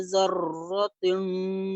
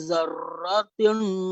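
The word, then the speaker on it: ذَرَّةٍ: Pengucapan ro itu dikasih bulat sedikit mulut. Zau jangan terlalu digetarkan. Zar ya, tidak. Dia hanya samar-samar saja. Zawatin ya. Tidak usah terlalu bergetar ra-nya.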